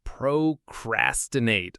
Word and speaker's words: procrastinate: The stress in procrastinate falls on the second syllable. So, it's pro-cras-ti-nate. The cras part is the one that gets the most weight.